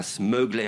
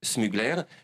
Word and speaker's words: Smugler: Alors, vous ne prononcez pas Smuggler à l'américaine, non. C'est Smugler.